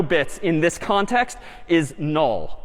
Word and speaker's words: NUL: So we might draw it like this instead and this character is again sort of pronounced null or written n ul.